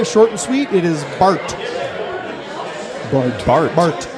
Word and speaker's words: Bart: and sweet it is Bart Bart Bart can you spell it b-a-r-t Farm okay just like Bart Simpson whoa but not Bart